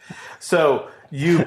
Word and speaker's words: Seuss: So, you probably pronouncing Dr. Seuss's name wrong. Oh, it's actually It should be pronounced as Soy, rhyming with voice.